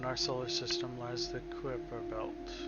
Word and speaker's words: Kuiper: Kuiper, two syllables, stress on the first one. In American English, it's usually pronounced as Kuiper.